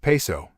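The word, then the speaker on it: Piso: He writes, the New Testament, the Church and Christianity, were all the creation of the Calpurnius Paizo, pronounced Peso, family, who were Roman aristocrats.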